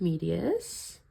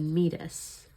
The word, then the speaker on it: meatus: So this is the external acoustic medius. I think it's actually said meatus because it's spelled that way.